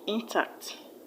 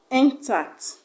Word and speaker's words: intact: now ocean b intact intact the right intact is not a noun and it's also not a verb it's an adjective just because it's not a noun it do not have a stress on the first level but on the second syllable option c negotiates negotiates